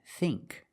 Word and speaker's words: think: Our first example is the pronunciation of words with the spelling ing and ink, like thing and think. The dictionary shows the word thin with the same pronunciation as thing and think, but they are different. Thin, thin, is a short I sound, thin, like this is thin. But with ing and ink, we use the long E sound, like green beans.